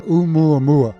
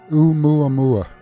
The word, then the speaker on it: Oumuamua: I think it's called Oumuamua. Is that close? So close. It's Oumuamua. Say that again. Oumuamua.